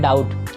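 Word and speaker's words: doubt: यहाँ पे B silent है बाबू, तो इसको पढ़ते हैं डाउट।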